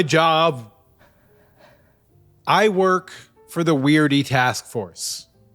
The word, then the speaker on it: W.E.I.R.D.E.: I work for the weirdy task force. The weirdy task force. The E can be silent.